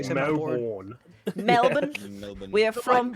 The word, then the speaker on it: Melbourne: you say Americans say where I live we say it Melbourne Melbourne but most most Americans say Melbourne.